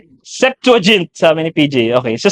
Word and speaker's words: Septuagint: septugan septuagint septuagint hindi ko alam kung anong pronunciation non e. Septuagint sabi ni PJ.